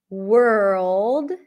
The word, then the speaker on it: world: When it's W-O-R, you're likely to pronounce it as were, worm, world, worth.